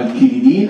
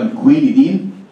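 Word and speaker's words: quinidine: عندنا دوايين مشهورين جدا، دواء اسمه الديجوكسين، ودواء تاني اسمه الكينيدين، او في ناس بتنطقه الكوينيدين، اعتقد يعني النطق بتاع الاثنين صح.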